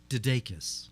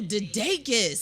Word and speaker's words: DeDakis: I would say it the same way, only a little faster. I'd say DeDakis. Oh, DeDakis.